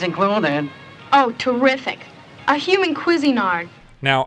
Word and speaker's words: Cuisinart: oh terrific a human Cuisinart now I know we've had our disagreements on how to pronounce Cuisinart but I think we could all agree that it's not queasy nard what were you saying